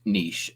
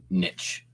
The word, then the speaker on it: niche: It is pronounced niche and not niche.